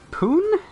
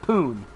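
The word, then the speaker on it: Pune: ubisoft and developers ubisoft poon p-u-n-e don't judge me my brain pronounces that poon and ubisoft mumbai have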